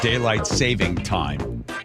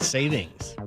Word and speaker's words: daylight saving time: We're so close to getting rid of daylight saving time. There's an s in it. Most people mispronounce it. Did you know that? Yeah. So, it's not savings.